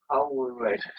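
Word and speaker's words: Coelred: It's Cold. It's C-O-E-L. Yeah. Red. It's like Joel Coldred. Coldred. So there's a guy called Coldred. Yeah, because you've got to imagine it with an accent. Coldred. Coldred.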